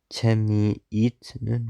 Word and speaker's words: 재미있는: 재미없다, Wait, shouldn't this be 재미있? 재미있는. Why does it sound just like another N?